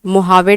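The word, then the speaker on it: Mojave: Great basin desert, उसके बाद में मोहावे डेजर्ट, मोहावे हालांकि मोजावे लिखते हैं लेकिन प्रोनाउंस करते हैं मोजावे डेजर्ट।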